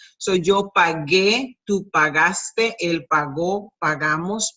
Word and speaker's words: pagué: Instead, we do this, which is that G-U-E sounds G, with the accent mark, makes it the strongest syllable. So yo pagué, tú pagaste, él pagó, pagamos, pagasteis, and pagaron.